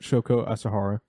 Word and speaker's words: Shoko Asahara: But it was a religious group founded in 1980s by uh Shoko Asahara. Oh yes, that's a good that's a good pronunciation on that. Shoko Asahara.